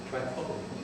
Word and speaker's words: Tripoli: The people here pronounce it Tripoli.